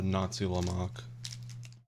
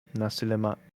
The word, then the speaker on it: nasi lemak: A Nazi Lamach. Nasi lemak. Say it right.